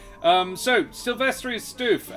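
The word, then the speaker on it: Stüf: um so sylvester is stoof um which is spelt s t u with an umlaut f um and i refuse to not pronounce that uh is it is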